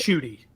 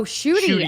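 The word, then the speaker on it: Ncuti: I'm saying this wrong I think it's NTI gatwa I hope I'm saying it right shooty oh shooty oh my gosh perfect thank God we have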